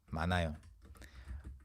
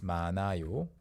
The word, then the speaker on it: 많아요: the present tense, it's 많아요. Yeah, 많아요. You don't pronounce the 히읗 there unless you have other consonants.